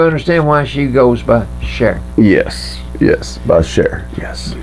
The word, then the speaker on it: Cher: don't you share yeah not sir cher that's how she pronounces it cher cher i thought it was chair her real name is